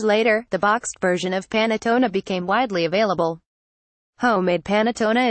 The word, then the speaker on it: panettone: cherry on top we're of course speaking of panettone pronounced panettone the traditional Italian bread served around Christmas the